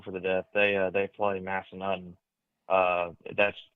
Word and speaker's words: Massanutten: They play Massanutten. That's pronounced correctly, right, James? Yep, you got it. Massanutten. You nailed it. Okay, Massanutten.